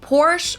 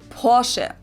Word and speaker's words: Porsche: I've heard Americans pronounce it Porsche or Porsche. In German we say Porsche. So there is like this short a sound in the end.